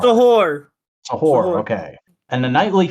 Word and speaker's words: Suhur: Like, how do I pronounce Suhur? Sahur.